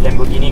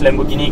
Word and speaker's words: Lamborghini: Okay, so this is the second generation facelifted Lamborghini Gallardo.